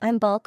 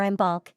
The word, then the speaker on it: Imbolc: wiin holidays imul imul pronounced imul or imul is a traditional Celtic